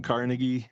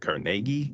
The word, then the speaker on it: Carnegie: So, we call him Carnegie. He actually, I guess, pronounced it Cargi because he was Scottish.